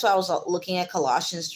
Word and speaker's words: Colossians: make it this way coalitions I usually say I'm so wrong go back Colossians Colossians the way they saying that I don't know collage Colossians Colossians yes Colossians um Colossians so